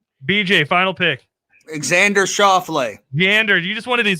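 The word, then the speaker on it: Schauffele: jordan spieth all right bj final pick alexander shaw flay meander you just wanted to say his name correctly can you spell that for a bonus point without looking x-a-n-d-e-r-s-c-h-a-u-f-f-l-e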